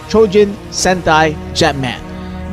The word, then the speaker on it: Choujin Sentai Jetman: That's how they say it in Japanese. Yes, CHOUJIN SENTAI JETMAN. Based on the 1991 Japanese Super Sentai series, you know, where the Power Rangers are adapted from?